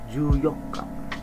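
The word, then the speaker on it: 十四日: tanggal 13 Jang niici tanggal 14 karena ini spesial itu menggunakan tanggal 4nya Yoka terus ditambahin 10 makanya juyoka enggak dikasih NIC lagi tanggal 15 jonich tanggal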